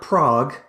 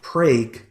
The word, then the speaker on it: Prague: Colton comes from not Prague, but Prague, Oklahoma. That's one of those mispronounced Oklahoma town names.